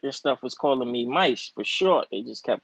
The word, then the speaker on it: Mise: Mise. Mice. Oh, like mice.